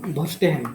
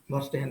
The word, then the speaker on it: Verstehen: तो बर्तमान गोटे गोटे देखा फर्स्ट टाइम देखा कौन भर्स्टेहेन।